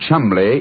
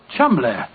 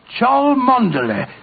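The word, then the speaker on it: Cholmondeley: know that the name Chumley is in no way pronounced the way it is spelt. Oh, Joe, I never thought of that. Chumley. That name's spelt C-H-O-L, Chow, M-O-N, Mon, D-E-D, L-E-Y. Chol Mondele.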